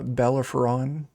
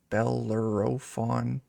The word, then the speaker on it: Bellerophon: your ship the uh bellafuron bellerophon it's what I get for picking words I don't know how to pronounce Jeff's just like I know how to say it but I'm not telling you that's fine what bellerophon that's what I said that's exactly what I